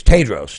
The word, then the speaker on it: Tedros: Yeah, it's Tedros. Tedros is how you say that.